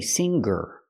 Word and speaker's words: singer: performer I cannot say singer or singing I cannot pronounce the NG with a G sound it makes a different sound it makes a sound in your nose singer and singing but